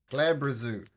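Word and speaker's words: Glabrezu: Okay, this creature, which is called a I'll spell it. Glabadabadoo. Glabadabadoo. There we go. Glabrazoo.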